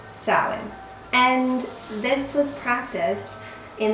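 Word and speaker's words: Samhain: salad now it's spelt this way but it's pronounced salad and this was practiced in the areas of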